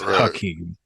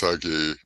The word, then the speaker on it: Hakeem: He was like, actually, y'all been spelling my name wrong. It is Hakeem. It's Hakeem.